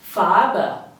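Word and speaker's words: Farbe: in German is Fara farba think of saying far but with a very softened R and add it with a B so it becomes FAA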